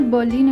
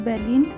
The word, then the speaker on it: Berlin: देखिए यह है बर्लिन इ नट बर्लिन इट्स बलिन जो जर्मनी का कैपिटल भी